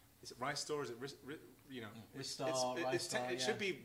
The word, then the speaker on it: Ristar: Rystar or So- Ristar or So Restar. I've worked out, in Japan, this is pronounced Rista, Rista.